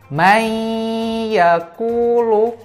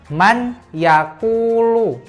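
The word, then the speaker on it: من يقول: meiyaku look Saya ulangi May yaqulu tulisannya bagaimana tulisannya Man yaquulu tapi cara bacanya tidak Man yaquulu tapi Mei yaf'ulu jadi Nun nun sukun tadi masuk ke huruf ya' tidak dibaca untuk punya Mei aku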